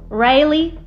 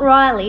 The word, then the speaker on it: Rayleigh: Kenan Rayleigh Urker. Not Riley, not Riley, but Rayleigh, like being railed.